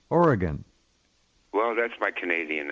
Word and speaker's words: Oregon: By the way, it's spelled Orygun, and that's how you pronounce it. That's how you pronounce it. Oregon. Really? It's not Oregon or Aragon. Oregon. Oh. No, it's Oregon.